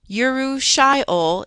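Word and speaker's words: urushiol: Yuru shyol is how you would pronounce the component and poison ivy.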